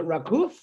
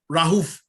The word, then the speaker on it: Raouf: Was it Rakouf? Rahouf. Raouf. Yeah, Rahouf.